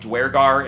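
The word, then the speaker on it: Duergar: I know that apparently they're pronounced dwarggar in Balders's Gate 3, but when you look at the way the the way the word is written, Durgar makes more sense to me.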